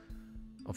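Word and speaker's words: を: trial and error process of how you can learn Japanese, or more like Asian language, without an alphabet that you cannot read by default. And wo, which is pronounced o, as well, deal equal to the stuff.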